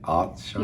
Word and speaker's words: عطشان: Atshan. Is that right? Atshan? Yes. You say it so it sounds right.